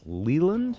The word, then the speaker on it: Leland: It's a 3-day music festival on the Olympic Peninsula's Lake Leland. Is that how you say it, Raj? That is exactly how you say it, Bob.